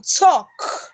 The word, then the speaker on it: talk: as you have in Talk That Talk the L is silent that letter L is silent and then that that letter L makes the all to become long so you have talk